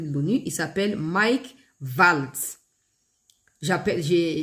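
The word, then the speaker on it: Waltz: J'appelle j'ai je prononce valt parce que ça peut être prononcé valt tout comme ça peut être prononcé W. En tout cas c'est V donc W A L T Z tout comme vous pouvez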